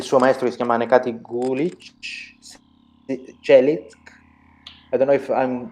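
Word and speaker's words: Necati Çelik: Okay, I just put the pronunciation like Najati Chelik.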